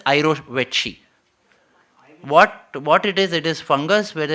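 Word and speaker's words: jirovecii: It is not pronounced as Giro Veka, it is pronounced as Irovetchi.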